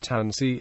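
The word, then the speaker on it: tânisi: had three syllables, because the first syllable has the stress and the syllable that follows has a short I. The vowel is dropped. As a result, the word is pronounced tansi with only two syllables.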